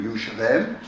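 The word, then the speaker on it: ירושלים: The oldest known and most common name of the city is Jerusalem, or as we would pronounce it in Hebrew, Yerushalayim.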